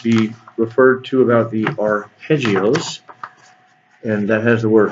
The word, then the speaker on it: arpeggio: This one is going to be referred to about the arpeggios, and that has the word harp. Kind of the first syllable sounds like harp in Italian, and a